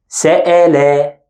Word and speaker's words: سأل: So let's pronounce them. The first one, sele, se-le. And the second, سأل سأل. See the difference?